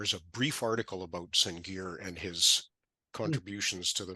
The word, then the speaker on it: Sengier: Sergey, is that close? Sengier. Oh, is it? Okay. It was kind of Belgian / French.